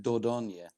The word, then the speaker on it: Dordogne: you would pronounce it Dordogne. Dordogne.